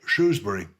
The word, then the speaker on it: Shrewsbury: The people in the street call it Shrewsbury without the R.